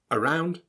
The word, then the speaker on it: around: About, around, again. The a sound that you read is actually pronounced as an sound, the schwa.